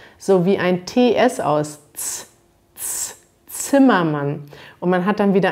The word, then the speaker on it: Zimmermann: ist vielleicht auch besonders man hat dieses z am anfang im deutschen sprich man das z sowie ein ts aus zimmermann und man hat dann